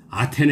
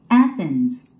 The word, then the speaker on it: Athens: 아테네 하면 안 됩니다. Athens. Athens.